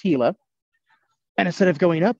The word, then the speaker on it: Gila: does kind of look a little bit like Gila but it is pronounced Gila and instead of going up why we go